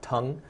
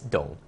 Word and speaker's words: Tung: his name was not Tong it's it's dull it's it pronounced with a D sound okay so the throughout